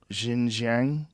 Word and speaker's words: Xinjiang: Xinjiang region?